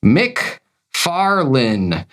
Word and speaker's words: McFarlane: Todd McFarlane's last name is pronounced Mick Farlin, not Lane like road. Lynn like a girl's first name.